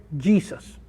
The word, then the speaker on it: Jesus: Y el nombre en inglés se escribe en español igualitito que nosotros, pero lo pronuncian Jesus.